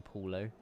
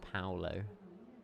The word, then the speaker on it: Paulo: The problem is, Jamie, I've already recorded all the intro sequences for the entire weekend, and I've been saying Paulo, but it's pronounced Paulo.